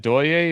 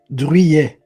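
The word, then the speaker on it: Druillet: Is it Doye or Drouillet? Am I... Drouillet.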